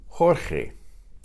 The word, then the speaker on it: Jorge: The name George in Spanish is Jorge. Now the G before E and I is pronounced the same as the J.